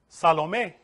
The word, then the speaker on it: Salomé: Testament, the mysterious dancer, Shalomé, the same letters. Solomon, Shalomé, same, but it's feminine. Salomé is how you say it, but it's written with Shin.